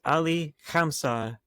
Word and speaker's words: Ali Khamseh: He is Ali Khamseh.